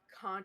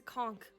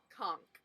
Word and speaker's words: conch: The magic con shell. Yeah, you say conch shell. It's a conch shell. No. Yes, it's a conchk.